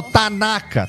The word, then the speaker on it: Tanaka: No japonês não tem essa tonacidade. Então, como eu falo, tanaka, tanaka, tanaka, não. É tanaka, tanaka, é átono, é flat. Então, a maneira de...